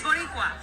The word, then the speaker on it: Boricua: What is Boricua?